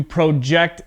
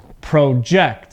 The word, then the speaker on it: project: project project okay so my voice goes up on the second part of the word because with verbs the stress is on the second part okay now as a noun this word sounds like project project with a noun two syllables the stress is at the beginning okay so a project